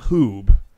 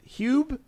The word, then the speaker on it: Hugh: Hugh because he said it doesn't rhyme with boobs so it's not hoob I think it's huge is it Hugh Hugh I think it's Hugh like Hughie but Hugh